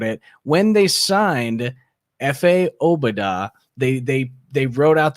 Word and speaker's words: Obada: the oh badass yeah they technically did it wrong and it's actually obada so okay bruce golan